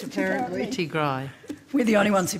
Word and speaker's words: Tigrai: Tigrai. We're the only ones who pronounce it that way Tigray.